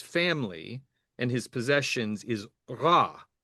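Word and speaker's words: רע: Yeah, the common word is ra, which is typically Interesting. transliterated as RA backwards apostrophe. So Ah, the yeah, the R in Hebrew is more like that French sort of at least in okay, modern pronunciation.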